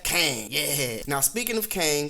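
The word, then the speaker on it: Qeng: avengers tower not exactly it reads q-e-n-g and you pronounce that kang yeah now speaking of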